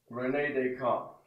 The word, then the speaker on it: René Descartes: René Descartes, okay? René. Is that Descartes? How do you spell that?